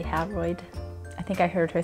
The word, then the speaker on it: Howroyd: So besides that, Janice Bryant Howroyd, I say Howroyd, I think I heard her say Howroyd at another conference, somebody said Howard, and I was like, is that right? Because her last name phonetically says Howroyd.